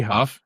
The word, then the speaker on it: Hough: I think it's supposed to be Huff.